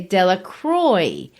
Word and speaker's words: Delacroix: If you want to say they mispronounce it, if you're French, they don't say Delacroix like the French might, or, that's my version of how the French might say it. They say Delacroix.